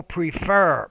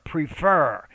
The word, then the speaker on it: prefer: prefer to it's people prefer prefer so with a lot of verbs including this one the stress is on the second syllable not the first so review review the